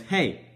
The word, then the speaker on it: He: The next one, it looked like it says he, but that's hey.